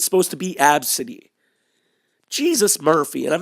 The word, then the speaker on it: Abcde: Pronounced Absidy.